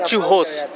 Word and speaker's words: churros: So, this is Churoz, In Portugal and Brazil, it is pronounced as Chuhoz as they pronounced R as H.